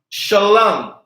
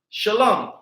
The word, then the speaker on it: Shalom: it's being connected and here is the word Shalom sha love Shalom so the frown face